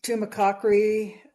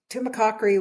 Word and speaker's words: Tumacácori: I was wondering how to pronounce that. Tumacácori, Theodore Roosevelt declared that a national monument on September 15th of 1908.